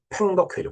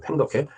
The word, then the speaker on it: 팽덕회: 자, 1950년 10월 중순, 이미 펑더화이는, 그러니까 팽덕회죠, 팽덕회. 우리 이 발음대로 읽다 보면, 저 팽덕회가 나중에 그 이제 휴전협정에까지 그 서명을 합니다.